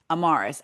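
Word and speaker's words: Amaris: Um, and it's spelled A M A R I, and the little girl's name is spelled A M A R I S.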